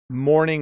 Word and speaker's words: mourning: How do we pronounce morning versus morning? They are the same. So morning is when the sun comes up. Mourning with a U is